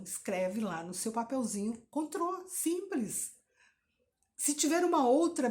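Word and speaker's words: Cointreau: Não é cointreal, é contrô. Então, escreve lá no seu papelzinho contrô, simples.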